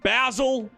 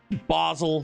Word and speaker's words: Basel: to the week fam we're in basil basle sorry it's not basil I know pronunciations I